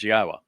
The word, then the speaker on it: Yahowah: Then after that introduction begins, Yahwa, which is the proper pronunciation of God's one and only name as directed by his Torah teaching regarding our higher existence and our shalom restoration.